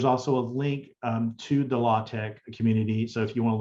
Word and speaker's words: LaTeX: Or you might even have some advanced scientific language, LaTeX, also called latex. I pronounce it LaTeX.